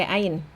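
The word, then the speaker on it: ع: Huruf ain dia ada aliran suara tapi sedikit, tidak seperti H. Aliran suaranya sedikit. Terus kemudian pada saat diucapkan tidak ada hembusan nafas. Jadi tidak ada nafas yang keluar. Oke. Bunyinya seperti hamzah, bunyinya tidak seperti hamzah karena dia mendorong katup epiglotis ke belakang tenggorokan.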